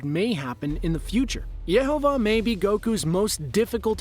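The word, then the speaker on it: Yhwach: If you're like me, you've had trouble trying to pronounce this guy's name for a long time, but here it is. Yehovah is the father of the Quincy and the son of the Soul King.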